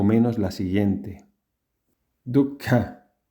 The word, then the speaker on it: dukkha: ¿Cómo se pronunciaba Dharma en la antigua India según las reglas de pronunciación del sánscrito? De esta manera. Dharma. 2. Dukkha.